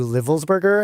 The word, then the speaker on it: Livelsberger: Then about, as we are about to talk about, Matthew Livelsberger, I think is how it's pronounced, who's the Green Beret,